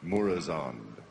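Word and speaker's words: Murozond: In the upcoming 4.3 End of Time, we get to kill, how do you pronounce it, Mormazoid, or the Evil Nosdomo? Murazond.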